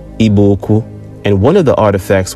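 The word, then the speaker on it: Igbo-Ukwu: artifacts in eastern Nigeria at a site called IBO uku properly pronounced iboku and one of the artifacts was a distinct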